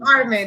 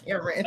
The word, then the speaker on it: Carmen: Carmen, not Cameron.